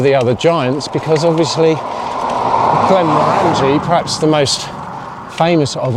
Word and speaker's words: Glenmorangie: You've got people like Glenmorangie up here, and that's how you pronounce it, Glenmorangie, not Glenmorangie.